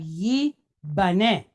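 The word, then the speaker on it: יבנה: Then we have nun pointed segol with a hey behind it, right? N, ne. All right. So we have yi, bane. Yi, bane. Yibane. All right, what about this next word here?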